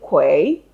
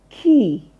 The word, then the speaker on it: quay: you would know that that word is pronounced as key exactly the way you pronounce the key you use in opening and locking your door.